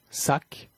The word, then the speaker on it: sac: Cependant, la consonne finale est quelquefois prononcée. Déficit, déficit, cumul, cumul, sac, sac, donc, donc, amer, amer.